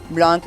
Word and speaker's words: Blanc: Blanc and is French for white. And the final C is silent.